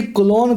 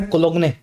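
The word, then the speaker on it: cologne: देखिए कॉलोन concept. की spelling क्या होगी? लिखा जाता है कोलोंगने। अंग्रेजी में बोला जाता है कॉलोन।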